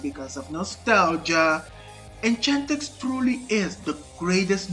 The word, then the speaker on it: Enchantix: And the Italian pronunciation, oh my god. Enchantix. They sound like warriors shouting their battle cry.